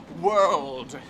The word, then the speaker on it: world: the word word okay for that one you've got to hit the L like crazy for the word world world you got to haveit that L world it's all in the rld D you got if you